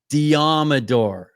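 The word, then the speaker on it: Deommodore: How do you pronounce his first name? Diamador.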